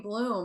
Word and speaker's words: Blom: can't pronounce mispronouncing your last name is Blom and I keep saying Bloom and I know when Owen and I apologize no it's Bloom you were right like for the for